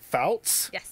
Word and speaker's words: Fouts: have Jessica I want to make sure I pronounce your last name right Fouts I did it I said it right perfect